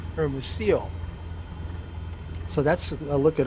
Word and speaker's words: Hermosillo: That's pronounced Hermosillo, LLO, kind of like arroz con pollo, one of my favorite Mexican dishes, but it's spelled Pollo, and this is Osillo, but it's pronounced, from what I understand, Hermosillo.